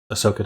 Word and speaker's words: Ahsoka: Ahsoka? Am I pronouncing that Yeah, right? so Ahsoka Tano, yeah.